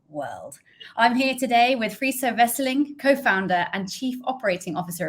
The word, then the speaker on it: Friso Wesseling: relevant to our world I'm here today with free so wrestling co-founder and Chief Operating Officer of Coco friso